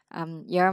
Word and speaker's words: your: Rồi, thí dụ như you're my first love and last love. Đấy. Đọc là your. Nó mới ra nha, chứ không phải đọc do đâu. Your. R thì mình cong lưỡi lên chút.